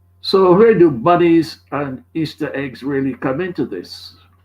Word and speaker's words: Ishtar: samarimis became known as ishtar which is pronounced easter and her moon egg